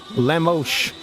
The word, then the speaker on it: Lemos: Lemos. That's how you pronounce that. Lemos. Why does that sound French? Right? Doesn't that sound French? Lemos? Yeah. No, it sounds Portuguese, but Portuguese and French are similar.